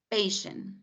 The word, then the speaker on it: patient: Patient.